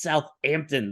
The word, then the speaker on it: Southampton: alive Paul you know Clive taught me how to say Southampton because I was calling it Southampton and he was like jigsaw boy you gotta say it right it's Southampton there's not two hes good to 51 wolves